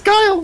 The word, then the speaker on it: Guile: Is it Guile? What the fuck is it? Yeah, it's Guile. His name's Guile.